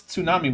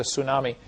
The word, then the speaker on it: tsunami: Says for 200 Argentinian pesos, Dapper, I want to pronounce tsunami with a TS because that's how it's supposed to be.